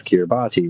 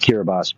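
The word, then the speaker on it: Kiribati: And they were registered to the aisle of Kirabati, right? Or pronounced Kirabas by the people who are local or native to that area.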